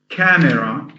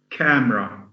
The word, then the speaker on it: camera: if you say it if you pronounce it camera then you'll have ca as a syllable me as a syllable and raw as a syllable the the the accurate pronunciation is camera camera with the e-silence so that makes that um that makes makes the wood have uh have um one less syllable okay let's have the